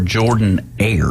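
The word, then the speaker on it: Jordan-Hare: Is it Jordan Hare or Jordan Air? It's Jordan Air. Jordan. Jordan. It's Jordan. Jordan. It's spelled Jordan.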